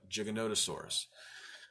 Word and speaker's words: Giganotosaurus: then we discovered well let's put the O in the middle where it belongs and start pronouncing it and we call it Giganotosaurus well the thing that